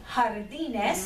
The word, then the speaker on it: jardines: Notice it has a J in front, but we use it like an H sound in front, okay? Jardines, okay? It is harder, stronger version of the English H sound there, all right?